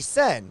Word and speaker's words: sen: So I'm assuming that the inn costs a little bit of sen.